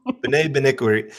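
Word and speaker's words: Bené Benwikere: just don't want to say his name, but Benet Benwikere. Did I say that right? That was good, man. Okay, I'll take it. Okay, Benet Benwikere.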